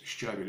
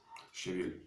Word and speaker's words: щавель: Щавель, вернее, потому что уж все так путают ударение до невозможности. Свекла, свекла, свекла, свекла. Вся Россия говорит, свекла, свекла. Ну как же это так, товарищи? Точно так же щавель и щавель – это тоже две большие разницы.